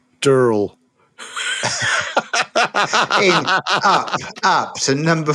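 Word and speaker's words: Durell: And we know how to say the name of the publisher nowadays. It is Durl.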